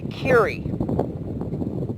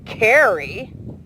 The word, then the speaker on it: Kiri: It is not Carrie, it's Kiri. And so, I don't know why there's a problem, but in case you've wondered the exact pronunciation, it is Kiri. Kind of rhymes with, ear, hear, Kiri.